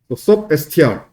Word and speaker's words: substr: 얘는 서브스트링이라고 읽으면 되는데 얘는 어떻게 읽어야 돼? 얘도 서브스트링이라고 읽어버리면 얘랑 헷갈리잖아. substr 이렇게 읽어야 되겠죠?